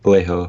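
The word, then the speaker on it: Laiho: The guitar player, that was Alexei, how do you pronounce his last name? Was it Leho, I think. Leho, yeah, that's Yeah.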